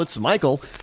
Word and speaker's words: Michael: male name but they're spelled like Michael and and pronounced like Michael not Michelle it's Michael so remember the actress